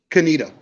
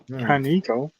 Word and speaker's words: Conetoe: They pronounce it Canita. I'm like, Canito. Canita, not even Canito. Like they pronounce it Canita.